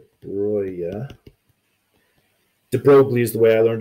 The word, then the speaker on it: de Broglie: de brea de Blois oh that's - boy de Broglie is the way I learned to pronounce it at first said that if light